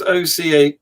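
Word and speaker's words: Ockham: profession but um yeah the village of arkham is in the south surrey of the a29 so it's they spell it differently now all right it's oca o-c-k-h-a-m ah then it's the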